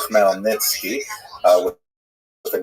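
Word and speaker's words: Khmelnytsky: It's actually pronounced Melnitzki uh with with a guttural at the beginning.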